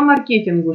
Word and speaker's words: маркетинг: я думаю да по маркетингу что не маркетинга маркетинг правильно говорить на этом этапе вы